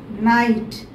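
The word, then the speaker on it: knight: 6, night. K-N-I-G-H-T, night. K is silent here.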